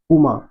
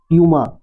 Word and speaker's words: Puma: वो अक्सर एकदम बहुत जल्दी से बोल देगा पूमा, है ना। लेकिन पूमा जो है ये गलत प्रोनाउंसिएशन है, इसका राइट प्रोनाउंसिएशन होता है प्यूमा, है ना। क्या होता है, ध्यान से सुनेंगे, प्यूमा, प्यूमा बोलते हैं।